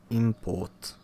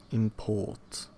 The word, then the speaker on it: import: Stress goes on the first syllable of the noun as in in import. and convict and an insult. But on the second syllable of the corresponding verb to import, to convict, convict, convict, convict, convict to insult.